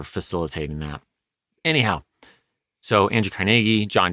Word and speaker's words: Carnegie: ahead and get that out there it's typically pronounced Carnegie today that's how I grew up seeing it